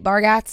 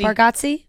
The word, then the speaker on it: Bargatze: Comedian Nate Bargatze is hosting. Mm-hmm. That's Bargatze. Bargatze?